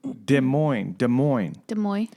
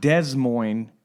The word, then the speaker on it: Des Moines: And we went to Des Moines. It's not Des Moines. It's Des Moines, but it's spelled D-E-S. I guess it's French.